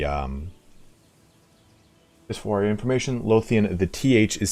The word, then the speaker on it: Lothian: th in the so lothian and the low is like low lothian belovian like i loathe versus lothian or lothian is that right colonel burton and how